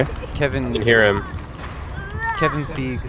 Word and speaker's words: Feige: Well, I was thinking of Paul Feig, who is pronounced like that, and it's spelled the same. No, you gotta say it like Matt Wall. Feige. Feige. That's how he says it.